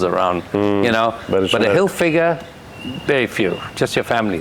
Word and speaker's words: Hilfiger: Everybody calls it Tommy Hilfinger and some somebody say something else and this. Nobody can pronounce Hilfiger."